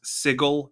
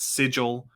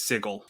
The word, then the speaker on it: Sigil: edition planescape books that it is pronounced sigel and not sigil it still kills me a little bit inside every time i say it same here but planescape appropriate the city's name is sigel and if you are